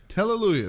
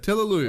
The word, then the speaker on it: Telaluyev: Telaluyev. It's like Teletubby, right? You got it. Yeah. Telaluyev.